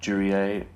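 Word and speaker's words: Duriez: Surname is not spelled like you say it. Durier, but D-U-R-I-E-Z.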